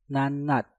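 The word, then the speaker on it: 낱낱: Nat diakhiri dengan tiut, setelah itu diikuti kata yang diawali dengan nieun. Nah, maka tiutnya kita rubah menjadi suara nieun. Maka untuk kata ini cara bacanya menjadi nanat, nanat, nanat.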